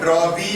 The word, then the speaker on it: drawee: It's drawee of the bill. D-R-A-W-E-E. Drawee of the bill. W is silent.